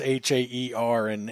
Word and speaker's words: Hare: My last name's Hare, and it's Hair, and it's funny. You just get used to people pronouncing it wrong. It doesn't even bother me, but it's just hair. I always say like the hair on your head.